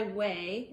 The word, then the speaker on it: OUAI: hair well here's a thick hair mask by way and that's spelled o-u-a-i i bought this with my own